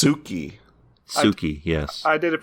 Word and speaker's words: Sookie: And then he explodes in the hands of Sookie. Yeah. Also, it's pronounced Suki.